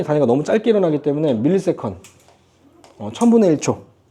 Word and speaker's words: ms: 자, 시간이 단위가 너무 짧게 일어나기 때문에 밀리세컨. 1000분의 1초. 이거 MS라고 읽으면 안 돼요. 알겠죠? MS가 아니라 밀리세컨, 1000분의 1초.